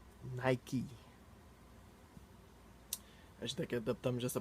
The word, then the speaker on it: Nike: Here they don't say It's pronounced 'Nikeey'.